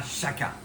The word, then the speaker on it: Chaca: Bon, j'espère que vous vous êtes pas trompé sur celui-là, hein, parce que oui, on dit chakra, chaka, chaca et pas l'autre.